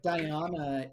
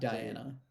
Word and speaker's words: Diana: But Diana is definitely how you pronounce it, I think, not Diana. Okay, Because there's 3 A's. That's 2 A's. different. That's different enough that when we talk about